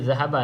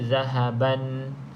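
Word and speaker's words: ذهبا: pada zahaba tadi ulahaba kita berhenti pada perkataan zahaba kita tak boleh baca zahaban sebab kita berhenti P perkataan zahaba bila kita berhenti dekat sini maka baris jadi satu saja jadi bacanya zahaba cuma dua harakatlah nama tajwidnya dekat sini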